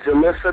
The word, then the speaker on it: Jillisa: let me ask you miss am i pronouncing that right is it julissa that's how you say your name yes very